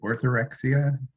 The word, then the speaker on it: orthorexia: I wanted to go back to, and I'm going to pronounce it wrong, but is it orthorexia?